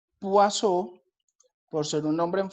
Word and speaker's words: Poisson: llamar distribución d wason se escribe poison pero realmente la forma de interpretarlo sería cubo azul vamos a llamarlo distribución d es un nombre en francés realmente es acá se pronunciase huaso por ser un nombre